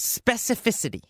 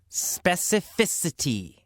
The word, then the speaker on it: specificity: Our first word is specificity. Specificity. A little difficult to pronounce, specificity. In fact, many native speakers have trouble pronouncing this word, especially if you say it fast in a sentence.